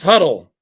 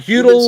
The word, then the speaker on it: Huddle: Uh, his name is pronounced huddle. Just huddle. Just like football. Huddle. Huddle. Okay. Not feudal or not.